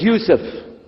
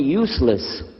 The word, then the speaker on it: Yusuf: work on it chalo my name is Yusuf he say Yusuf he said Hewson you're very good I wish you'd teach my wife she keeps mispronouncing it she calls me useless humbly now how many